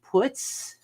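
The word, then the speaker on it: Putz: these like legit and I guess it's pronounced puts I don't think I'm qu accenting it quite right puts and puts put like the German they don't say putts it's puts or puts Poots is it Poots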